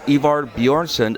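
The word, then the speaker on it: Ivar Bjørnson: very interesting night of music sitting here is ivar bjornsson of enslave how you doing i'm doing great thanks how are you did i pronounce that properly because i'm notorious for butchering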